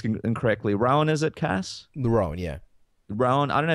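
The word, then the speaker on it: Roan: I'm going to pronounce this incorrectly. Rowan, is it, Cass? Rowan, yeah.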